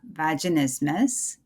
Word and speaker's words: vaginismus: today we're talking about vaginismus and uh as somebody had a wise man stated the pronunciation sounds similar to christmas but is not as